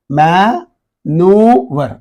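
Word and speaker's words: manoeuvre: Maneuver. So in this, E, O and E, these two vowels are silent. Okay. We pronounce only this N and U.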